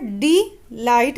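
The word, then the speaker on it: delight: तो यहाँ पर डी लाइट यानी डी ये हमारा अनस्ट्रेस सिलेबल हो गया, क्योंकि हम यहाँ पर डी को फोर्सफुली प्रोनाउंस नहीं कर रहे हैं। डी लाइट, लाइट पे हमारा ज़्यादा फोर्स प्रोनाउंस हो रहा है।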